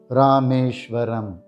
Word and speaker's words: Rameshwaram: this is how we pronounce the name rameshwaram rameshwaram rameshwaram rameshwaram the meaning of this name